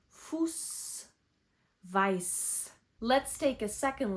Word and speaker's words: Fuß: That B-looking letter is equivalent to double s's. It's called Eszett, but it's pronounced as s. Fuß weiß.